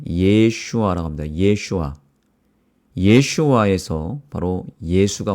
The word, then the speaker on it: 예슈아: 그래서 정확하게 이렇게 발음합니다. 예슈아라고 합니다. 예슈아.